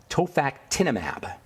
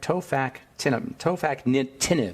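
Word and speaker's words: tofacitinib: This one is called tofactinimab. Is that right? Tofactinib.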